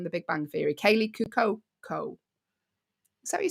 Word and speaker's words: Cuoco: the lady from the Big Bang Theory, Kaylee Cuoco? Is that what you say? Cuoco, yeah.